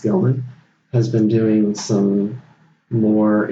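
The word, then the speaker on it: Gelman: ever decide an election Andrew gellman it's pronounced Gilman has been doing some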